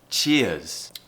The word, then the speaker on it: Cheers: so ear ear and the tongue should go to the middle of the mouth to pronounce the O the schwa sound Cheers try it without that at the end cheer now try and add the on the end Cheers a